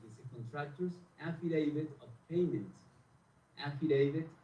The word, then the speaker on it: affidavit: Affidavit, acuérdense de la palabra David, ¿sí? Y eso les va a ayudar con la pronunciación de este.